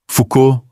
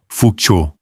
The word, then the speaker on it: Foucault: Foucault, Foucault. O L e o T são mudos, o AU é um O fechado. E a tônica cai no fim, como quase sempre em francês.